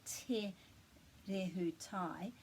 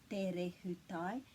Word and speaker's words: Te Rehutai: And the main thing to remember is that these T's are both kind of flat sounds. It's not Te Rehutai, it's Te Rehutai, and that's just because that T is pronounced that way when it's got those vowels after it. And also the R is a little bit rolled.